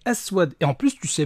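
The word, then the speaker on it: أسود: simplement assouad et oui en arabe noir ça ne se dit pas assez mais aswad et en plus tu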